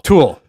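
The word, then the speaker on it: To Øl: to pronounce this because it looks like Tool, but it's T-O and then a big O with a slash through it, L. It's Danish. We'll go Tool. Let's just go Tool. Tool.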